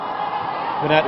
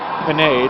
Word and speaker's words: Panette: Ooh, nice dodges from Panette. Panette, whose name looks like Panay to many of my Canadian friends back home, but Mackenzie herself did confirm that it is pronounced Panette.